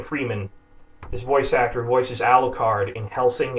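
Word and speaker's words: Alucard: they establish you know it's Dracula spelled backwards and it's the video I'm going to post here is Christen Freeman is answering this fan girl who insists that it's spelled and pronounced aruk card and he's trying to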